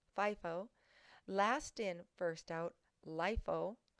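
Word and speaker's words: FIFO: first out or 50 is pronounced with a long I and a long o fie fo last in first out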